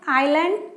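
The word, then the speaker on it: island: को समझते हैं प्लीज क्या-क्या हो सकते हैं आईलैंड एंड माउंटेन ऐड जिस आईलैंड्स यहां पर साइलेंट है और आयरलैंड यह है और यह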